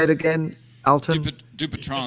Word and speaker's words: Dupuytren: Dupuytren's. I always say Dupuytren's with a kind of a French accent. It's sort of a French with a Texas twang.